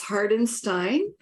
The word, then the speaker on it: Hardenstein: you with us hardenstein am I pronouncing that correctly actually it's hardenstein thank you what may help you remember it is a beer stein just think of a